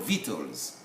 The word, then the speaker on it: victuals: We don't pronounce the C, but it's written in the sound, in both. They are called victuals. Even the U and the A are not to be pronounced, but then we are concerned with letter C.